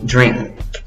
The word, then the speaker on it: drink: Y nota la N. Aunque no tienes una G en la palabra, en la escritura, en la pronunciación necesitas ese sonido de la G, de la colita.